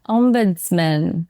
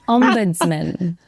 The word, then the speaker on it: ombudsman: Ombudsman. See, Emma said, you and Sarah emphasise the M. we agree, because that is the correct way to say it. And I emphasise the buds.